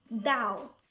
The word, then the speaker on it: doubt: Rule number 2: when B comes before the letter T, B is silent. بمعنى ملي كيجي حرف التي وقبل منه B هنايا كتكون silent. An example: debt, doubt, settle.